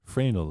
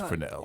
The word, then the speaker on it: Fresnel: I hear word of the Fresnel lens, and they're like, "Oh no, it's Fresnel." It's Fresnel. Although the pronunciation is shown as many different things in